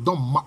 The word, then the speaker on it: Doma: La bonne prononciation, c'est Doma.